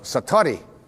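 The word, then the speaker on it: satori: it's called excuse my Japanese but it's called satari I'd love to say that s-a-t-o-r-i and it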